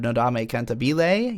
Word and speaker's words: Nodame Cantabile: the first half of the first season of Nodame cantabile yes I'm actually pronouncing it correctly for the first time in